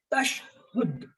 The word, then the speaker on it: tashahhud: Tashhud, the pronunciation is tashhud.